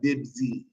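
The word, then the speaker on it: بيبسي: Instead of Pepsi, we say what? Bibzi.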